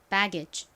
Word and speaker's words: baggage: 연결하면가 되죠이는로 표기하기도 합니다 자 발음해 볼게요 baggage이 배 부분에 강세 줘서 한 번 더 해 볼게요 baggage 좋습니다 기지의 의미가 뭘까요지는